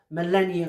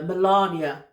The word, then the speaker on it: Melania: But I have made three purchases so far over the last 24 hours uh of Millennia Coin uh Trump's wife. Uh Melania. Yay, I finally said it right.